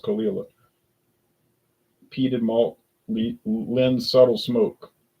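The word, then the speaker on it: Caol Ila: It I'm been told is pronounced Kila.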